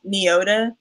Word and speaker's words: Nyota: been saying the magazine it's just pronounced neo de so you don't know